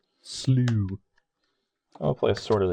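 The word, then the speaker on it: Slough: Canyon Slaw. Not slaw, Steven. Canyon Slaw. You pronounce it right. Slew.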